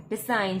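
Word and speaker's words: design: फिर हमारी अगला वर्ड है डिसाइन, जिसमें जी साइलेंट है। जी की प्रोनाउंसिएशन हो नहीं रही, तो ये एकदम साइलेंट है।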